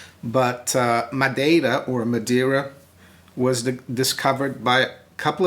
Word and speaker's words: Madeira: uh holidays here in Madeira well Madeira of course is the way it's pronounced in English in Portuguese it's my